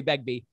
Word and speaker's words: Begbie: Jeremy Begbie's a Cambridge trained musician and theologian.